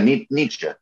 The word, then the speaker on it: Nietzsche: uh if you so if you're thinking in martial arts terms like knee and then cha like a sound you make when you're the karate chop yeah um no i mean i think that's the easiest way to just like phonetically think think about it um because i think